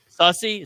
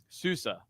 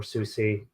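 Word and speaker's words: SUSE: Sussy? Suspect? What is it? Susa. I don't know why I can never pronounce it. But you're fine if you say Sus or Susie.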